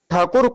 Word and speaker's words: ठाकुर: लेकिन जो अंग्रेज शब्द जो अंग्रेज लोग थे तो जो ठाकुर को शुद्ध उच्चारण नहीं कर पाते थे। तो उसको टैगोर टैगोर बोलने लगे।